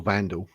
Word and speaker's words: Wandelt: I think that she should concentrate on her trial and accept that she's Julia Wendel or Vandal as it's pronounced.